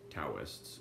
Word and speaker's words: Taoists: At the same time, its profound philosophy, its subtle dialectics, and penetrating analysis and speculations stirred Chinese thinkers, especially the Taoists, or Taoists, if you pronounce it such.